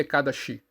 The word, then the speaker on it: Ekadasi: são cria sagra Sara ecada se pronuncia ecada chi é o décimo e